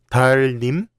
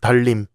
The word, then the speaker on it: 달님: How would you pronounce this word? 달님? No, is 달림.